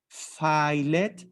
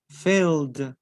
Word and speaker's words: filled: see an ed sound never never read it as if it was in spanish filet no filled filled okay so never pronounce e d as in spanish okay i will show